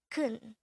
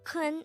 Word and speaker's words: 큰: hangout word number 241 this is pronounced as one syllable word pronounce it with me the korean word kun is an adjective which